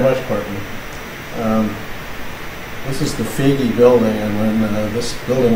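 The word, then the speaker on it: Foege: People call it Foggy, Faggy, but it's Feige, so it's nice to be here.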